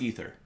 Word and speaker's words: Aether: Maybe you always thought it was called Aether. Because I always thought it was Aether. Wait. What did you call it? Ether. It's pronounced Ether.